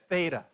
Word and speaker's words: Theta: remember what it's called no Theta so it doesn't rhyme with feta cheese not to be confused